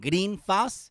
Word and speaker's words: Greenfield: If you want to meet up with me in Greenfield, in Greenfas, as the locals say, in Greenfas, then go ahead and kyle.